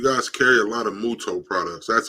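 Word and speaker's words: Mutoh: your website you guys carry a lot of muto products that's how you pronounce it right yes correct so and you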